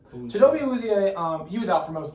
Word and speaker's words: Chidobe Awuzie: I don't know how to pronounce it. Let me pull it up right here. Or something like that. It is Chidobe Awuzie. Chidobe Awuzie, he was out for most of last year.